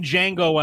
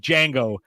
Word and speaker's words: Django: He's like, Django. The D is silent.